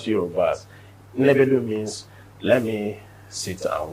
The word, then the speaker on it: Nnebedum: The syllables are high, not Nnebedum. No. Nnebedum. High.